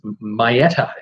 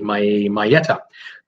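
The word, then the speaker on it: Maietta: I got a message today from Dina, and I will try to pronounce this last name. It's Maieta. I'm going to do my best. It's M-A-I-E-T-T-A, Maieta.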